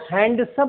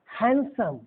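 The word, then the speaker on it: handsome: इसको हैंडसम नहीं पढ़ेंगे, हैंडसम।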